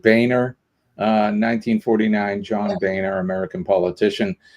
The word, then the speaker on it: Boehner: On this day in 1949, John Boner. I think he pronounces. He said Boner. I think he pronounces it Boehner.